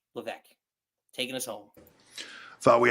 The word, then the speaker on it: Levesque: way with our eloquent, not so CCO, Paul Levesque. Did I say that right? Yeah. I didn't say it right last time, but I said it right this time. Yeah. Paul Triple H Levesque taking us home.